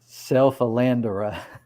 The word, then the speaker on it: Bucephalandra: I say Boos, but to be fair, I'm from Texas, and that's more of an accent type pronunciation. So probably either could be correct. But however, you say the buh, the rest is Bucephalandra. Bucephalandra.